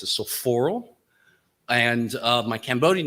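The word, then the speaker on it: Sophoorl: So my legal American name, what's on my passport, my driver's license is so Paul, which is has always been pronounced as Sophoral.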